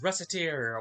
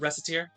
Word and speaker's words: Recettear: First game we're going to look at today is Recettear, or Recettear. I've heard it pronounced both ways. I pronounce it Recettear.